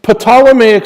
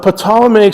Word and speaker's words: Ptolemaic: on it and the Potala Mayock system and yes i'm pronouncing the silent P in Ptolemaic the Potala mag system named after the